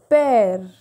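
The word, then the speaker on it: père: brother so this excellent this axial graph has the sound of a that is why we are pronouncing mare pair and frere this accent comes on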